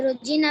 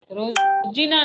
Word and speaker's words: रोजाना: मैं रोजीना ब्रश। रोजीना नहीं, हमेशा या रोजाना। रोजाना, राइट प्रोनाउंसिएशन है ना। रोजीना तो हम ऐसे मम्मी बोलते हैं वैसे बोल दिया, पापा बोलते हैं वैसे, है ना। रोजाना, रोजाना।